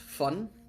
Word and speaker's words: von: So, his name is Von. Yeah, his name is Von S. Vss. Van is actually German and is pronounced fun.